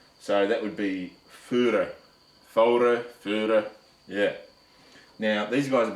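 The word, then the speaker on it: Voere: that would be pronounced Führer. All right, if you read it, it says Voer, right? But V is pronounced as an F in German, Austrian. So that would be Führer, yeah.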